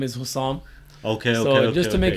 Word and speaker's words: Hussam: So Sam, my full name is Hussam. Okay. So just to make it shorter, and a lot of people, when I tell them my full name, Hussam, they're like, who's Sam? They always say it wrong, do you know what I'm saying?